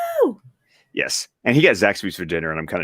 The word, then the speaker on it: Zaxby's: Well, when I go visit Anthony and possibly Scott someday, we'll all go to Zaxby's. Is that how you say it?